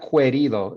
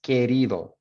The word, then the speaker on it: querido: So this one got people, there is no, it's not querido, it's querido. So some people put querido, and that is not how it sounds in phonetically.